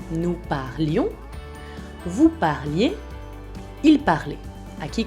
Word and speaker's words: parlions: Cuidado que se tiene que oír la I, nous parlions.